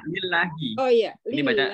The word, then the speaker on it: lillahi: Marfu'un mubtada'un marfu'un Allahi jarin lillahi, bacanya lillahi.